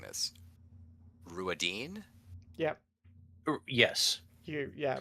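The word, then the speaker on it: Rhuidean: And long way around, they tell him that he must go to, how am I pronouncing this? Ruadine? Yep. Yes. Yeah. Ruadine, is that how you, is that right?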